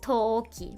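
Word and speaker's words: 陶器: It's a long O sound. So the first it's Touki, but you pronounce it Toki, right?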